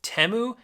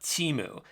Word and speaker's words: Temu: Bowl ad that taught us that it's actually pronounced temu and not teu so in this video I'll show you a way to drop ship from temu that actually works now to be honest I